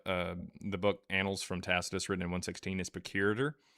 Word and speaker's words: Tacitus: So I I don't know how to pronounce his name so I'm just going to write in the chat. His name is Tacuse Tacitus.